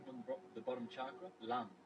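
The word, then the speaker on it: लं: Starting from the the bottom chakra, lam, l a m, then vam, ram, yam, and then ham, then om, and then silent.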